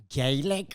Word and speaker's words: Gaelic: Gaelic? Gaelic. They spell it Gaelic. Gaelic, Oh, I but see. you could spell it Gaylick.